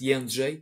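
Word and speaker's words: Jędrzej: So the proper way to say it, the first name and the last name, is Jedrzej, that's the name, and, that's the surname. So. That's D and U for unicorn.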